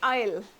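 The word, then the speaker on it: aisle: लेकिन इसका स्पेलिंग आप देखेंगे क्या है? ए आई एस एल ई। लेकिन आप किस इसको कैसे प्रोनाउंस करोगे? आईल।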